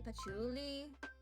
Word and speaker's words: Puli: her outfit and then there's Puli which apparently I've been pronouncing wrong. It's actually Puli, but I'm just gonna refer to her as Pachuli.